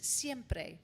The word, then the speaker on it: siempre: I know you're going to have them there, but let me teach you how to pronounce it. It's going to have the word for always, which is siempre.